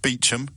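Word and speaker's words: Beauchamp: as and yet kirby you do Beechum it's one of my favorites it was that posh people pronouncing really unexpected ways in order to have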